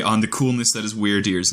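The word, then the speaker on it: Wyrdeer: the coolness that is weird dear's name so obviously weird like strange right but the way that it's spelled w-y-r-d is an old english word meaning one's fate or destiny so it's really the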